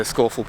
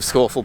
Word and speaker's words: Scafell: So you have to pass through this adorable little farm called Seathwaite Farm in order to get to the main track to Scafell Pike.